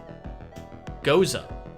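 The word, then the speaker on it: Gose: It's and I looked up the pronunciation of this before we started, Zach. It's a Goza. That's what it's called. A Goza style ale, brewed with watermelon and sea salt.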